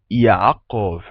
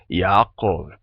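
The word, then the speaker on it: יעקב: Então, primeiro, o nome em hebraico, numa pronúncia mais antiga, tá? Vai ser Yaakov. Na pronúncia atual, usada em hebraico moderno, a gente não tem o som de Ain, o som de A, e também não tem o som de Ka para a letra Kof, certo?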